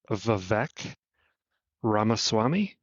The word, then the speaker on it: Vivek Ramaswamy: I've not heard it, but I believe it's pronounced Vivek Ramaswamy.